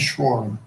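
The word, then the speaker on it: Schroering: My last name is Schwar. Could you spell that for me?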